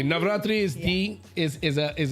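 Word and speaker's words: Navratri: Basically for Navatri. Am I saying it right? You're saying it perfectly. Navatri is the is a is a massive holiday here.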